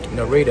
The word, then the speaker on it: Narita: So, but um this is a 14-hour trip right here from Dallas to Narita. I think it's Norita. I think that's where you pronounce it.